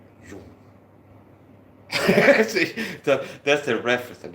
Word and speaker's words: Jung: Some people pronounce it as Jan. Okay. Jung.